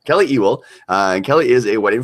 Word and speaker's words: Ewell: really happy to be joined by photographer Kelly Ewell. Did I pronounce it right, Kelly? Did I butcher your last Ewell. name? Very close. Ewell. Ewell. Kelly Ewell.